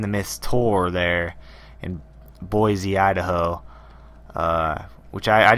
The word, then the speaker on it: Boise: idaho something like that boise boise there we go something like that boise